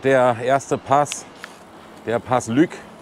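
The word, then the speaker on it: Lueg: Jetzt wartet der erste Pass, der Pass Lück. Lück wird da, glaube ich, ausgesprochen.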